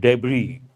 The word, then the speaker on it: debris: parts are known as the letter s is silent debris a boat is a